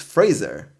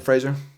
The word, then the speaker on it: Fraser: sure missed him also we've been saying it wrong apparently it's Fraser nobody's ever got mine that's embarrassing sorry Brandon Frazier I mean Fraser Bill